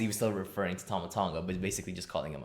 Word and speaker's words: Tama Tonga: How do you pronounce that? Oh, no, that's not. No, that's the damn. Tama Tonga.